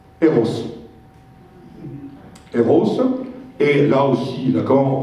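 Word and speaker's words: Rrose: Donc ça se prononce R-Rose. Eros.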